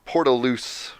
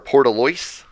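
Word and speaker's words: Portlaoise: there someone in scandinavia was called portaloos which is a town in ireland my country or portoloys would probably be better to pronounce it wait how did flash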